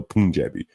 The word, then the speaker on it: Punjabi: Punjabi or Punjabi?